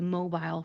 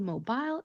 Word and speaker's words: Mobile: This city in Alabama is not called Mobile, it's called Mobile. Mobile. If you listen to my pronunciation, you can hear that soft eel sound that I'm making at the end of the word.